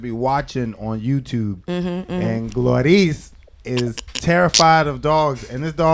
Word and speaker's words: Glorelys: Yeah, I mean, everyone calls me Glory. It's Glorelys. It's just hard to say.